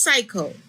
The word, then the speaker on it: cycle: Here, the C is followed by a Y. Therefore, the C is a soft C. This word is cycle.